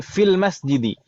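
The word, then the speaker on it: في المسجد: Seperti fi al-masjidi, jadi fil masjidi. Ya kan ya? Fi al-masjidi, jadi fil masjidi. Dihapus lafadznya.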